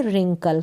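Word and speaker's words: wrinkle: herein कल क्या है यहां पर भी डब्लू आर से शुरू हो रही है यह स्पेलिंग डब्लू यहां पर साइलेंट है डब्लू से हम नहीं पढेंगे स्पेलिंग को और आर से शुरू करेंगे रिंकल क्या पढेंगे रिंकल रिंकल का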